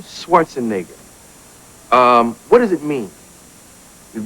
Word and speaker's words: Schwarzenegger: Ecke, not Neger. Ecke. Because people pronounce it the wrong way here a lot of times. They say Schwarzenegger, which I understand because in English things are different, you know. That's Plus, they use the word so much in private, they just slip. They get confused, exactly. But it is actually, the right pronunciation is Schwarzenegger. That's the right pronunciation.